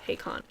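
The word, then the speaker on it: Haykahn: his name is hey Khan how do you spell it spell h-e-y-k-a-h-n his name is Zane Khan but it's hey Khan yeah dude it's wild it's it's pretty crazy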